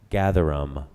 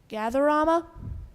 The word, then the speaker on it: gatherum: Any alternate pronunciations? No, there are no alternate pronunciations.